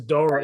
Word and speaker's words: Doering: with who uh joe doering i have no clue that he's like a bald white man i got the name wrong probably no it's dora it's like d-o-e-h all right the the